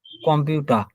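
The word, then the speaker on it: Computer: এই দেখেন এ আর আছে না, এই এ আর কিন্তু রর মতো উচ্চারণ হচ্ছে না। কম্পিউটার আ, এটা কিন্তু আর মতো উচ্চারণ হয়ে যাচ্ছে।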